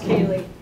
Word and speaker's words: Kaylee: It's pronounced Kaylee. It looks a little weird on paper.